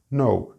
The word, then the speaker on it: know: The word I had in mind was no, K-N-O-W. The good news is that these 2 words, no, as in not yes, and no, conocer or saber, are pronounced exactly the same.